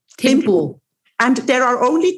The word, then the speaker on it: Thimphu: Is it Thimphu? What's the capital of Bhutan? Yes, it's Thimphu. Thimphu.